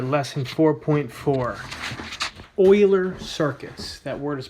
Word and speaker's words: Euler: all right lesson 4.4 Euler circuits that word is pronounced Euler ger that is the name of a famous